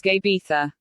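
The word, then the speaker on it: uisge beatha: water of life that in gaelic is pronounced just gabetha this simple yet not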